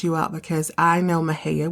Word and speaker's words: Mexia: out because I know Maha which is spelled me x i a looks like Mexia Maha is hometown of the